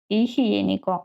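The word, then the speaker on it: higiénico: Іхєніко. Ачи не читається.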